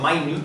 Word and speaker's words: Minute: There's one called the Minute Geyser or the Minute Geyser. I've heard it pronounced both ways.